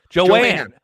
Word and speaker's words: Joan: Connor says my grandma's name is Joan, but it's pronounced Joan. Joanne.